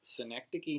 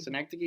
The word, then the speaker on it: Synecdoche: Little movie called Synecdoche, New York. Synecdoche, baby. I'll spell that one out for you.